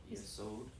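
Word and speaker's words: יסוד: So this is an open syllable, right? So I have consonant vowel. And this last syllable here is a closed syllable. So we have consonant, vowel, consonant.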